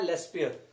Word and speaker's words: Laspeyres: चलिए, सबसे पहले बात करते हैं फर्स्ट स्कॉलर की, जिनका नाम है लेस्पियर। क्या नाम है? लेस्पियर। इनको मैं एल से डिनोट कर देता हूं, स्पेलिंग आपकी बुक में होगी, चलिए मैं लिख देता हूं, LASPEYRES, लेस्पियर।